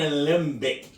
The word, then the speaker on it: Alembic: I said it right, an alembic.